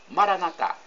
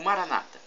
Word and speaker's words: Maranatá: E agora eu clamo no dialeto de Jesus, o aramaico, Maranatá, como pronunciam os católicos, ou Maranata, como pronunciam os evangélicos ou protestantes.